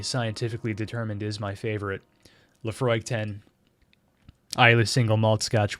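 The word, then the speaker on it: Laphroaig: Johnston and Co Lefroy is of I Lefroy pronounced Lefroy is an all malt scotch whiskey from the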